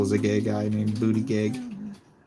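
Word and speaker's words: Buttigieg: Then I was comparing it to Buddha Judge, which that's not how you actually pronounce that name. So I don't know if he changed it or someone down his lineage changed it or what, but it's pronounced Booty Gag.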